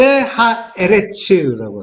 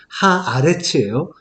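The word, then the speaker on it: הָאָרֶץ: 구원의 언약을 이루어지는 과정을 이렇게 보여주시고, 그리고 그걸 한마디로 엘레 톨레도트 하샤마임 베 하에레츠라고 합니다. 물론 이제 하에레츠 정확한 발음은 하아레츠예요. 에레츠가 이제 하와 관사가 붙어서 약간 변형이 일어나는데, 어쨌든 그걸 한마디로 요게 하늘과 땅의 내력이다라고 하는 거예요.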